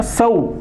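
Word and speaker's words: sow: अब एक वर्ब है सो जिसका प्रोनाउंसिएशन ये सो, यही रूप फॉर्म है, लेकिन इसका उच्चारण क्या, सऊ।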